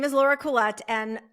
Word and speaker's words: Koulet: Um her name is Laura Koul. Am I pronouncing your name correctly? It actually is a hard T, but um I'm also known as Laura Kool.